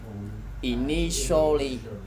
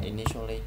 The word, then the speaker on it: initial: Initial phải tổ. Khi mà hình thấy chữ T đi với chữ I đi với chữ A thì thường sẽ đọc là show.